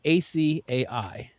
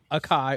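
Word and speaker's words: açaí: It is a three-syllable Brazilian Portuguese from the Amazon, not akai or acia. It's acai.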